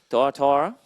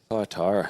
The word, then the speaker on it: Thyatira: Righto, Thyatira. Thyatira, thank you for pronouncing that.